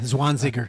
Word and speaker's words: Zwanziger: and uh and Anna how do you say her name is zwanziger yeah Swan singer there you go um some of them